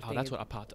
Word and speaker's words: apartheid: That's what apartheid.